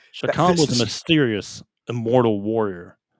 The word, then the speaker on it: Chakan: It's actually pronounced Chakan.